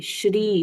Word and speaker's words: श्री: बहुत सारे स्तोत्र में ओम जहां पर भी पढ़ते हैं, श्री जहां पर भी पढ़ते हैं, उसको दीर्घ पढ़ना चाहिए। श्री श्री श, जैसे हम